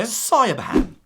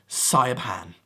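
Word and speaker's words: Siobhán: Sayabhan. Hello, my name is Sayabhan.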